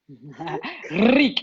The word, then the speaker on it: Рык: Rik, I love that. I so love that. It has a really fun energy to it. Your Russian pronunciation is wonderful.